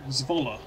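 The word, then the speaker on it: Zwolle: I'm glad you did Z but it's a short o Zola Z more oh [ __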